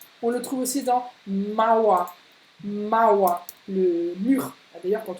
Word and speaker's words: Mauer: Donc, dit Mauer. C'est presque un A, un peu ouvert, hein, dit Mauer.